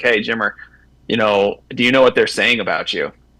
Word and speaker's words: Jimmer: they always call me Jimo because they can't really pronounce the ER, right? So they can't say Jimmer. So because of that, they say Jimo.